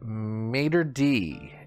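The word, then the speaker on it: maître d': Number 29, also a French word that we use in English, is maitre d'.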